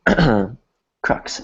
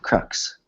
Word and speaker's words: crux: that word before um and krux is the correct pronunciation so everybody repeat that after me Crux Crux CR and the